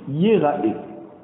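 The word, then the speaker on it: יֵרָאֶה: Normalement, ça aurait dû être Yir'e, mais on a la coutume de lire Yira'e. Ça veut dire que les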